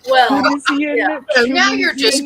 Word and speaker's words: Tunisian: did you know the British say they don't say Tunisian, they say Tunisian with a CH.